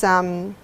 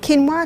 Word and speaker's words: quinoa: Another one is quinoa. Are you familiar with quinoa? It's spelled quinoa.